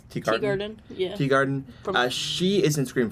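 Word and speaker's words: Teegarden: And then Skye is played by Amy, how would you pronounce it? Teagarden? Yeah. Teagarden.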